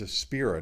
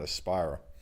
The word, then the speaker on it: Aspira: been saying it wrong it's a spirit not a spiral sorry about that didn't